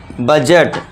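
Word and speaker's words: budget: डी को silent. इसे क्या पढ़ेंगे हम? बजट। बजट नहीं, बजट नहीं, बजट।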